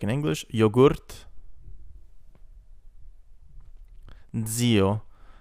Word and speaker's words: zio: Zio, uncle, like cats. Zio.